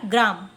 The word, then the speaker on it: ग्राम: ग्राम लिखने जाएंगे तो पहले आप प्रोनाउंस करो, गा, गा बोला हमने, गा, फिर रा बोला तो रा की मात्रा लगा दिया, ग्रा, फिर म बोला तो सिर्फ म की मात्रा लग गई, बन गया ग्राम।